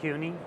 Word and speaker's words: CUNY: being at at uh cuni at at this time you know that's how you say it cuni yes okay that's how